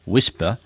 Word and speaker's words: WSPR: fairly high level wsp pronounced whisper stands for weak signal